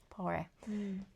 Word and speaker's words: Poiret: You're better at pronouncing it. Poiret.